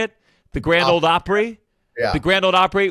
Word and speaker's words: Grand Ole Opry: The Grand Ole Opry?